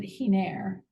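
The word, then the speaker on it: Giner: Geiner? She actually pronounces it Hiner.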